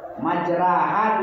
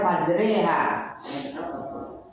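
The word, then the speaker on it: مَجْرَاهَا: Ya, di bawah hari itu ra majraha tulisannya dibaca majriha. Apa satu?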